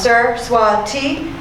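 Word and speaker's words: Saraswati: for hennepin county attorney my first name is pronounced sir t and my last name is as in song i say this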